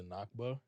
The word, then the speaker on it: Nakba: Which is the anniversary of, I believe it's pronounced the Nakba.